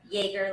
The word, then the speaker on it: Yaeger: Yaeger, like Chuck Yaeger.